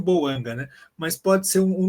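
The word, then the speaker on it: Bouanga: Já oáio Boangáim Boanga, né? é a pronúncia que ficou eh normalizada e boando.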